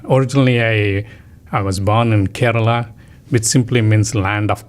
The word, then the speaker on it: Kerala: Kerala. So it's spelled Kerala.